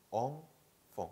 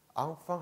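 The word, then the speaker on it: enfant: 샹, 샹, 샹피온, 샹피온, 엉퐁, 엉퐁. 앙팡이 아니에요. 한국식 표기할 때는 앙팡이라고 표기하는데요. 프랑스에서 발음할 때는 엉퐁, 엉퐁 하셔야 돼요. 앙팡 하면은 프랑스 사람들 못 알아들을 거예요.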